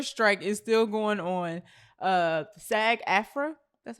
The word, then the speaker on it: SAG-AFTRA: SAG-AFTRA, that's how you pronounce that, right?